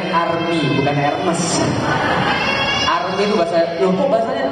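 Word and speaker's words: Hermès: salah berarti gak tah masih pakai barang KW bacanya arm bukanm arm itu bahas loh Kok bahasanya tulis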